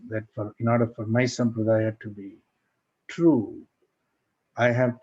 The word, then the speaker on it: sampradaya: So I think in large measure, this course is an opportunity to decondition ourselves from such fixation that in order for my sampradaya to be true, I have to negate and invalidate other sampradayas.